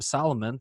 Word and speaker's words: Salomon: is AJ Peltier and today I've got Adam Solomon from New England rock and metal radio how